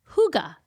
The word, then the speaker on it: hygge: this Danish concept called huga. Do you know about this? Huga. No, that's a fun word. Yeah, huga. It's actually not pronounced the way it's spelled for Americans.